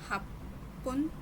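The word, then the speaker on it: はっぷん: 8 minutes, hapun 9 minutes, kyufun 10 minutes, chupun।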